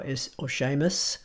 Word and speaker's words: Seamus: They all have a tinge of sh to them. You'll hear this when Sean Connery talks, and even the name Sean which is spelled S-E-A-N, or Seamus, which is S-E-A-M-U-S.